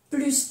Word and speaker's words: plus: Léa est plus grande que Marie. Aquí no se pronuncia la S de plus.